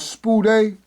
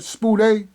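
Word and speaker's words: σπουδή: This is called spude. That's how you pronounce that, spude.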